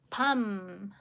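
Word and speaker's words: 밥물: Because once again, we have this ending consonant followed by the sound. For the efficiency in pronunciation, we'll need to convert it into sound. So, not pronouncing as itself, It's way harder, right? But you need to convert it, change it, switch it into the 밤물.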